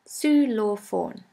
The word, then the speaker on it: Xylophon: xylophone is very similar in german we say solo phone su law phone the next letter is